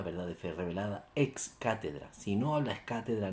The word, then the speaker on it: cátedra: Siempre que se pronuncia, y aquí viene la palabreja, ex cátedra, desde la silla de Pedro, se pronuncia cátedra.